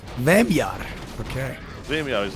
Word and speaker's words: wymiar: How do you say dimension in Polish? Wymiar. Oh, it's not dimensiona or something? No. Wymiar.